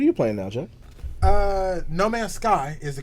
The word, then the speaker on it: No Man's Sky: playing what are you playing now jck uh no man's sky is the correct uh pronunciation of the title okay okay we'll definitely